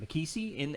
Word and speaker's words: McKessie: That's right. Yep. I'm pronouncing it right. McKessie in the AMG Evo.